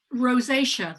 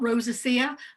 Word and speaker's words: rosacea: it's treatable i suppose yeah good point so rosacea that's the way it's pronounced not rosacea or rosaxia or whatever or even acne rosacea that is